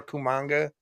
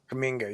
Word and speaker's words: Kuminga: Him or Kumanga or whatever, whatever the hell you say his name. Kuminga, yeah.